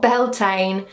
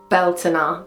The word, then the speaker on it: Beltane: Not Beltane, Beltane, but we'll get into that in a minute.